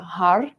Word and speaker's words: Har: It's spelled H-A-R, but when you say it, it might sound like HUD because you're going to be flicking the top of your mouth with the tip of your tongue.